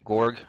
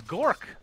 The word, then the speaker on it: Gork: They have our Viper player, Gorg. I don't know how to say his name. Oh, it's Gork.